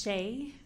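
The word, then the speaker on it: Shae: and spell your name please my name is Shea s-h-a-e middle name and maiden name last name is pronounced like Harris with a lisp it's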